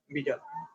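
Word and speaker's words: Widal: তো অনেকে ওয়াইডাল বলে, কিন্তু উচ্চারণটা হবে আসলে ভিডাল।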